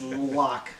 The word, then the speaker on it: Loch: in lock lock he says L he says Lake he says lock yeah he says Lake and lock depend what he wanted to rhyme with he changes it it's Lochness Monster right you say you can't say likeness monster it's lock all right now we're at